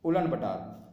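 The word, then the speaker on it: Ulaanbaatar: इसे उलन बटोर भी कहते हैं, हिंदी में इसे उलन बटोर कहते हैं, पर इसे इंग्लिश में उलन बटार कहा जाता है। आप दोनों इसके प्रोनाउंसिएशन जैसे ही बोल सकते हैं इसका।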